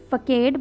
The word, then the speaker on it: facade: So some people will might pronounce it facade, but it will be pronounced as facade.